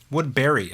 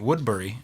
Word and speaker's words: Woodbury: it out Brian Woodbury Woodberry I think that's how you pronounce it I always was pronouncing it Woodbury uh but I never actually asked him and then um he has a song called the other Brian Woodberry and he pronounces it Barry so um Woodberry I